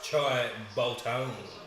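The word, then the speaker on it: Shai Bolton: classic they did also say his name wrong but that's all right it's choi bolton are you saying girls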